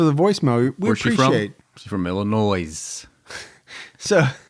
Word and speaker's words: Illinois: said they were from Illinois. Mhm. And I think in parentheses it said something about tell Gibby it's there's no, you know, the S is silent or I forget, but I get a kick out of it.